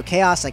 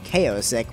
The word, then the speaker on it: Chaosic: how's it going also chaosic I'm finally pronouncing your name right I used to be calling you kosick which is not the right way to pronounce it how a going chaosic